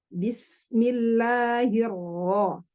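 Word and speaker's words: بسم الله الرحمن الرحيم: Kalau jalur Syam, huruf ro berharokat dan sukun pengucapan itu lebih terlihat kuat, lebih nampak ya. Jadi makanya kalau kita tadrib bismillah. Bismillahirrahmanirrahim. Bismillahirrahmanirrahim. Ditebalkan.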